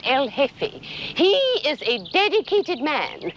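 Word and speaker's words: jefe: G E F E the J is silent. El hefe.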